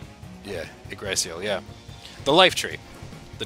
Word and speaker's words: Yggdrasil: Yeah, Yggdrasil, yeah.